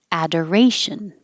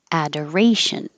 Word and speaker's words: adoration: and we started with adoration adoration just the verb adore the or really sounds like or a door but when it's the noun the or is not stressed and it just changes to ER Adder adoration this one